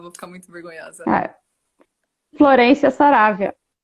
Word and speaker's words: Florencia: Ah, Florência Saravia. Florência mesmo?